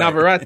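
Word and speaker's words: Navarrete: Americans love to just commandeer somebody's name and then hijack it and then put an American pronunciation on it. Like, right. Navarette is how you say his name.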